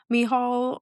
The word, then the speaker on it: Micheál: And this was the historian Micheál O'Clery. Okay. It's spelled like Michael, but they pronounce it Micheál.